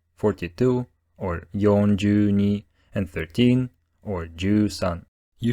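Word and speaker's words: 四十二: used to say numbers like 63 which is pronounced rokuju Sun 42 or yonjuni and 13 or foreign you should try to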